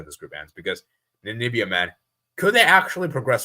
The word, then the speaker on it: Namibia: then to lose to Namibia. It would be so characteristic. Yeah, and by the way, guys, hopefully I pronounced their name right. It's Namibia, by the way, guys. It's not Nambia. It's Namibia.